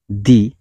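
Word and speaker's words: the: ট আস সে আমাদেরকে শিখিয়েছিলেন হা প্রনান্সিয়েশন অফ দি depends অনদার following words begin with vowel or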